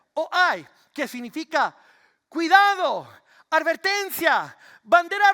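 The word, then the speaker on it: οὐαί: Así se pronuncia, o hay, que significa cuidado, advertencia, bandera roja.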